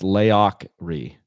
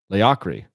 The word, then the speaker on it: Laocri: It's pronounced Laocri. Laocri. Laocri. It's Scottish or Gaelic for warrior king, but I misspelled it.